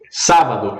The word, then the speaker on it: Sábado: Sábado é a antepenúltima, é uma palavra esdrújula.